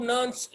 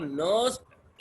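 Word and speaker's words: Nernst: इसको नर्न्स्ट इक्वेशन भी कहा जाता है, इसको नर्नेस्ट भी कहा जाता है, जो तुम्हें आसान लगे। नर्नेस्ट प्रोनाउंस करना इसको आसान लग रहा है, तुम नर्नेस्ट कह दो, कोई तुम्हें कुछ नहीं कहेगा।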